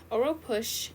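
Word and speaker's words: Oropouche: village in Trinidad where it was found the pronunciation Oro push Oro push is harbored in Birds monkeys rodents and sloths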